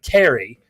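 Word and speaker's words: Cari: i want to say carrick it's carrie it's i think i say kari sometimes it's spelled c-a-r-i which seems like it's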